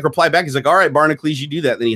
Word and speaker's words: Barnacules: pronounced barnacle ease or inaccuracy so most people pronounce it barnak ulee's but I'm like that if Prince can make himself a symbol I can spell it out where I want and be barnacle ease okay so all it is is two words